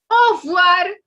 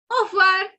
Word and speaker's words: au revoir: So when they say bye-bye, no, that R is not clearly, we cannot hear that R clearly. So we would stick to saying au revoir, au revoir. Okay, so don't pronounce this. It's completely fine. Say au revoir.